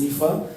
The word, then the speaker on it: Aofi: Son nom s'inscrit AOFI, mais on prononce Ifa.